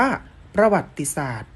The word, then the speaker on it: ประวัติศาสตร์: ลักษณ์ อ่าน ว่า รูป รัฐ ประวัติศาสตร์ อ่าน ว่า ประวัติศาสตร์ มนุษยศาสตร์ อ่าน ว่า มนุษยศาสตร์ ที่ นี่ นัก เรียน